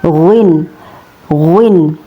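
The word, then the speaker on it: غين: Huruf ghin ini gunin keluar dari bagian tenggorokan yang paling dekat dengan rongga mulut. Ya, tepatnya persentuhan antara bagian belakang lidah dengan ujung uvula. atau daging yang tersambung dengan langit-langit. H cara melafalkannya gin gin gin gin gin gin begitu ya.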